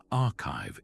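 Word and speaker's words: arXiv: For those who want to get even closer to the cutting edge, the RZIV website pronounced archive is essential.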